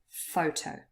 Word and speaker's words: photo: word photo here and photo consists of two syllables but only the first one is stressed we say photo okay if you're not